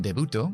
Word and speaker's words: debut: Un debuto como primera apariencia pública, nosotros decimos debut. No pronunciamos la T.